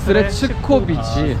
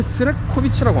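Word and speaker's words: Srećković: 그 국립국어원에 여기 표기법이 있어요. 각 나라 모든 언어 나는데 거기 세르비아, 크로아티아 표기법에 따르면 스레치코비치라고 해야 되는데 그렇게 하면 현지인들은 못 알아듣고 6글자 스레치코비치. 그럼 왜 스레코비치라고 한 거예요?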